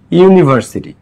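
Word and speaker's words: university: দেখো ইউনিভার্সিটি। এ কি উচ্চারিত হচ্ছে এখানে? ইউ। ইউ ইউ এর মত উচ্চারিত হচ্ছে এখানে ইউনিভার্সিটি।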